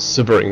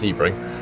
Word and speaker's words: Sebring: road to spring sebring always want to call it siberian when it's it's pretty certain it's pronounced sebring and uh we'll see